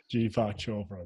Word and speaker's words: Deepak Chopra: Deepak Chopra. Deepak Chopra.